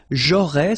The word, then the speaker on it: j'aurais: J'aurais, so final S, not pronounced.